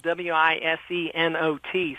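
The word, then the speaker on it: Wisenot: would say is that his name is spelled w-i-s-e-n-o-t so it sounds like wise not anybody dating the rapture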